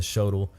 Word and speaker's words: shotel: I've heard people call it the shotel and the shotel. I call it the shotel because it rhymes with hotel.